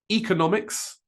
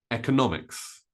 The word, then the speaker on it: economics: literature the next one economics or economics economics or economics notice that I stress the N economics or economics both E and E are correct at the beginning it's not really a